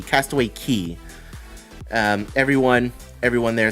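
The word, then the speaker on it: Castaway Cay: or not just weird it is pronounced key Castaway Key um everyone everyone there says Castaway Key I know like it's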